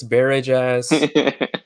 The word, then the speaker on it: Barajas: No one ever knows how to say Barajas. It's Barajas.